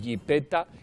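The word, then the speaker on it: yipeta: no podemos es decir jipeta y escribir jepeta. Exacto. No, si usted dice jipeta, escríbalo con Y-I-P-T-A, jipeta, y ya está.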